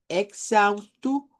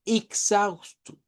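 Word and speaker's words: exausto: Aquí, sí, estas EX pueden sonar diferentes, porque en Brasil lo que comienza con E se puede pronunciar con I o con E. Entonces yo puedo decir exhibir o puedo decir exhibir. Puedo decir exhausto o puedo decir exhausto. Podemos cambiar ese sonido.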